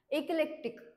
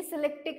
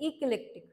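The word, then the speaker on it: eclectic: word next word आहे इकलेक्टिक हे सिलेक्टिक नाही याला प्रोनान्स करण्यात येते इकलेक्टिक ओकेक्टिक तर याचा अर्थ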